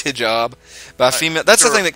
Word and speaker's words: hijab: I'm not actually sure about the pronunciation. I think it's hijab.